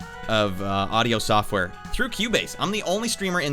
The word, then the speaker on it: Cubase: obs all of my audio is going through cubase because i'm a musician i'm a composer for video games if you guys wanted to know what i've written boom all right q bass it's spelled c-u-b-a-s-e but uh yeah it's just they